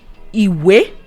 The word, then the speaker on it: Ìwé: The first one is Ìwé. Ìwé. And we have 2 tone marks on this word.